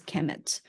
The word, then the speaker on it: Kemet: So it's KMMT, actually spelled just pronounced as Kemet, but it's actually written KMMT.